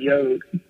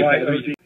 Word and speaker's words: Yod: He pronounced his name Yod. Yod, okay. Y-O-D.